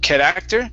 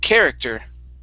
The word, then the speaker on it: character: the word character okay in this word the stress is at the very beginning of the word instead of kid actor is character character very good uh next